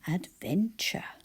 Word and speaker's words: adventure: we get there Adventure it sounds like I've said J at the end add then and it isn't how we spell it to say we